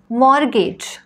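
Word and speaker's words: mortgage: व्हिडिओमध्ये आपण शिकणार आहोत वर्ड्स विथ सायलेंट टी असे शब्द ज्यांच्यामध्ये टी हा लेटर आपल्याला उच्चारायचा नाही आहे castle Christmas fasten match hustle लिसन मॉर्गेज नेसले ऑफन विचन विसल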